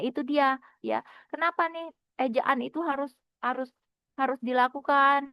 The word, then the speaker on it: ejaan: Bukan ejan ya sayang. Ejaan.